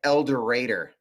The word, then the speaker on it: El Dorado: arkansas and they live they live in el dorado and they call it elder raider so i understand that's